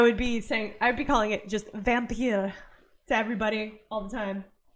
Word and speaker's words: Vampyr: It's Vampyr. It's just a fun way of spelling vampire. I don't know. I know if I was developing this, I would be calling it just Vampyr to everybody all the time.